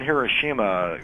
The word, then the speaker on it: Hiroshima: Well, the show in Hiroshima, we kicked off our Road to WrestleMania portion of the Japanese tour in Hiroshima.